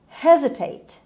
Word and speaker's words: hesitate: one word number eight hesitate hesitate hesitate the stress is on h on her sound and s in this